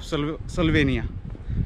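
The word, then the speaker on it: Slovenija: The capital city of स्लोवेनिया, स्लोवेनिया, स्लोवेनिया, बट ये कुछ और ही लिखते हैं लास्ट में, जे ए कुछ ऐसा, जे दे प्रोनाउंस लाइक वाई, हां वाई, या या स्लोवेनिया, या।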